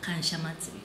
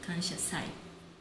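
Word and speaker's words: 感謝祭: But we pronounce kanshasai, not kansha matsuri, kanshasai.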